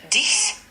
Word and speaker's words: dix: 10, Dix, and it's spelled D-I-X.